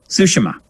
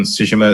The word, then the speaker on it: Tsushima: So Tsushima is an actual place. So I assume there is a common pronunciation for it. But which syllable is stressed in Japanese can vary by person sometimes. Yeah.